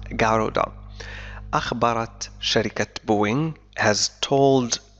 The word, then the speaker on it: Garuda: قالت شركة النقل carrier شركة نقل الوطنية national الإندونيسية والتي اسمها غارودا، عفوا نطقتها من قبل جارودا لكنها تنطق غارودا، أخبرت شركة بوينغ has